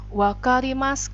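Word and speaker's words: わかります: Wakarimas bacanya ya, u-nya hilang.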